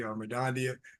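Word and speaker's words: Mirdania: That's how you say her name correctly, Madondia.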